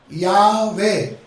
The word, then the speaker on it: Yahweh: अभी बोर्ड नहीं है, मैं आपको स्पेलिंग बताता हूं। परमेश्वर का नाम इंग्लिश या हिब्री भाषा में यावे, यावे, यावे, यावे, YAHWEH, दोनों में क्या है?